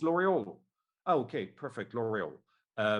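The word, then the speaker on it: L'Oréal: that was in fact the american way to pronounce l'oreal saying it l'oreal when in french it's l'oreal with at the the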